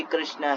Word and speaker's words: कृष्ण: रहा था बीच में कि कृष्णा नहीं कृष्ण बोलना चाहिए, रामो या रामा नहीं राम बोलना चाहिए, अच्छे से उच्चारण करना चाहिए हरि नाम का, है ना, वरना उसका फल नहीं मिलता।